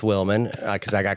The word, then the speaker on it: Willman: Cuz I was I knew people mispronounced Wilman cuz I got called Justin Williams every day of my life, right? People just see W I L and then they stop reading.